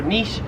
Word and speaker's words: niche: 44 is niche or niche. So in America, again, Americans say this both ways. I've heard Americans say niche, I've heard Americans say niche, but it's pretty common to say niche. I myself have always said niche, but in Australia no one says niche, it is niche here in Australia.